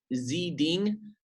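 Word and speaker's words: Xi Ding: like this is um Zee ding it's spelled X I and then D ing he's a caricature artist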